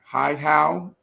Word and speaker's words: Hihow: So is it Hihow? Did I pronounce it correctly? Oh, great. That is perfect. I I like to help people out. It's like, hi, how are you?